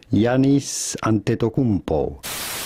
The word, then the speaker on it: Giannis Antetokounmpo: How do you go about pronouncing his name? Simply Giannis Antetokounmpo.